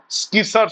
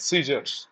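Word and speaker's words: scissors: মানে কাঁচি কাঁচি সিজারস উচ্চারণটা স্কিস নয় সিজারস ম্যান অফ লেটার চিঠির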